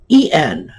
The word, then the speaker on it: environment: Now, when we say this, that middle N is just barely touched on.